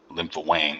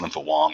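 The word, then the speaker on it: Linfa Wang: much you know utmost confidence that was uh lympo Wang as we pronounce it lymp Wong as they pronounce it responsibility he is um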